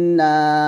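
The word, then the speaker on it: النَّاس: তো এখানে গুণনা করবেন এভাবে, কুল আউযু বিরাব্বিন নাস। নাতে 3 আলিফ টান দিয়ে এই সিনকে ধরবো, সিনে এসে আমরা হামস উচ্চারণ করবো, কারণ সিন হচ্ছে হামসের হরফ। হামস মানে হচ্ছে বাতাস বের করবো।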